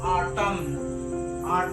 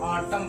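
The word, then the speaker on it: autumn: इसको क्या पढ़ेंगे इसको बहुत से लोग क्या पढ़ेंगे आटम टम इसको नहीं पढ़ना ऑटम पढ़ना है ऑटम क्योंकि अगर एन से पहले अगर एम आ गया तो एन साइलेंट होगा उनसे पहले एम आए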